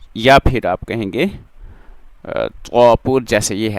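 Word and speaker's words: ز: जा खड़ा जबर जा यह जा सीटी वाला हर्फ है इसमें जब हम इसको रीड करेंगे पढ़ेंगे प्रोनाउंस करेंगे इसकी प्रोनंसिएशन में लाइक साउंड होगी कैसे सीटी की तरह की आवाज होगी खड़ा जबर ज इस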